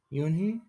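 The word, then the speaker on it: Unhei: you new here what's your name girl asked you and he said hey you're allowed to scratch up her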